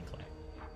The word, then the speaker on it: Klei: Clay is pronounced Clay, I believe. It is not. They used to stream consistently on Twitch, but they would stream, and their stream title would always be Clay, pronounced like Clay, and it would C-L-A-Y. I used to say Clay as well, but they say Clay. Clay rhymes with play.